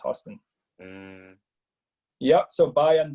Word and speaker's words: Houston: Yeah, from Drew Houston, spelled Houston, but like I think it's pronounced Houston.